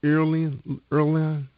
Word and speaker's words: Erlonan: And you said the book is pronounced the Erlonan.